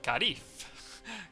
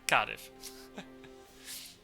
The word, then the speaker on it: Cardiff: Pronounce it correctly. No, Karif. Cardiff.